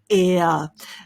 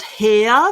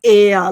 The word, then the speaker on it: heir: queen they're called the air it's definitely not hair that's not how we pronounce it it's just air like air around us air breaking that down